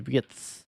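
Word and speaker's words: Wirtz: Where do you expect uh Vietz? His name is Vietz. No, not WS. I think they definitely pronounce it as wits.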